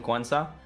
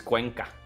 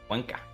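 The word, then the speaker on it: Cuenca: But because Quenza not falling, they are so comfortable sitting here. Yeah. Yeah. France brought back the volunteers from Quensa. And I know actually it's Quanka. Quanka.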